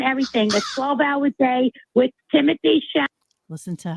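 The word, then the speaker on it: Timothée Chalamet: Timothy Chalamet.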